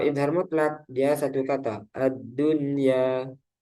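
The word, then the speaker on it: الدنيا: Tidak berlaku hukum idgham bi gunnah pada 4 kata berikut ini, yaitu ad-dunya, sinwanun, qinwanun, bunyanun. Para ulama sepakat untuk membacanya secara jelas atau idhar karena masih dalam satu kata dan mereka menamakannya idhar mutlak. Ada yang menamakan juga idhar wajib.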